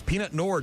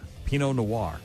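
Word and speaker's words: Pinot noir: Also on the 18th, it's Peanut Noir Day. There's all kinds of other wines. Peanut. Pino noir, I believe, is how that's pronounced.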